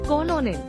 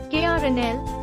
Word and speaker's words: Colonel: Incorrect. Colonel. Correct. KRNL. Colonel. Tip: remember, the pronunciation doesn't match the spelling. Think of it as Colonel instead. 2.